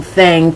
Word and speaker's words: thing: If I have a thing for you, and it's spelled T-H-I-N-G, but the pronunciation is ang, thang, T-H-A-N-G.